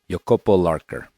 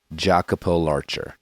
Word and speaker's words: Jacopo Larcher: conversation with Italian climber yopo lker not jacapo Larcher as you might have thought and read it's difficult to say